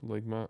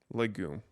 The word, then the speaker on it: legume: ligma. I don't even know how to pronounce this.